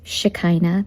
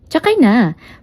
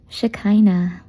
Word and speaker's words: Shekinah: It sounds like So it's shikina. That's how you pronounce it. Pero I'm sure a lot of you are saying shikina or takay na pero huwag niyo akong sasakyan kasi ang sakit na po ng likod ko. So it's just shkina.